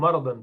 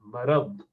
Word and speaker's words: مرض: بولنا ہے, تب بھی را پر زبر ہونا چاہیے. مرض نہیں ہے, مرض, مرض. ٹھیک ہے, ان کو کیا مرض لاحق ہے, مرض غلط تلفظ ہے اس کا, مرض.